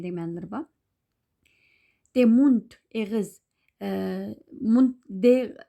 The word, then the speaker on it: Mund: Mund, D harfi sözün ahirki vaqtda T telaffuz qilindi şu an.